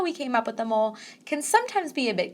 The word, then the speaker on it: mole: is all a mole you don't actually pronounce mole to rhyme of la though I'm a really